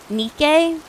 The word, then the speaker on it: Nike: How do you say Nike? Nikke. Like the goddess Nikke. Nike. Where I live, we pronounce Nike like we pronounce Nike like Pikeo.